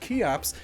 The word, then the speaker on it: Cheops: Anyway, Cheops, spelled Cheops but pronounced Cheops, is how the ancient Greeks referred to Khufu.